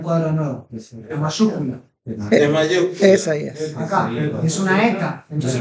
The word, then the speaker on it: Isaías: Entonces, esta palabra no tiene 3 sílabas, no es esai, as, tiene 4 sílabas. Es e, sa, i, as. Una pregunta. Y si no, pregúntenle a un americano. Escríbanle en una hoja que pronuncie Isaías y van a ver cómo la pronuncia.